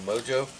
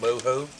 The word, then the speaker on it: mojo: You can also use some mojo or mojo, as it's more correctly pronounced.